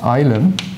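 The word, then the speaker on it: ylem: And he called the state, well in English it is usually pronounced ilum. That's the name he gave to this object at the beginning. Pavel, is Pavel here? Yes, I think it's a Russian word, right? And it's pronounced ulem, is that true?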